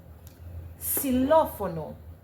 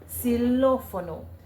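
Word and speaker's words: xilófono: Silophono, we spell it with a X, but in pronunciation in Spanish, it's it's pronounced with a S. Silophono.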